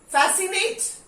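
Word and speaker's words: fascinate: फैसिनेट, फैसिनेट, सी नहीं हो रहा है.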